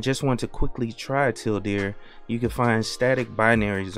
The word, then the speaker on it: tealdeer: it says down here if you pronounce tilde in english it sounds like till deer hence the project name in case you're in a hurry and just want to quickly try till dear you can find static